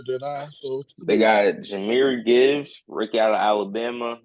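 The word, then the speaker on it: Jahmyr: name jir but he he pronounced it how Jamar it's pronounced jir pronounced it's jir jir it's jir but he spell it Jamar and like James from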